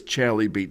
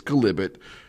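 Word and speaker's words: chalybeate: it on a map, it's spelled chalibeat, but don't ever say it's chalibeat to people that live around the area. It's calibit. Call it that and you should be okay.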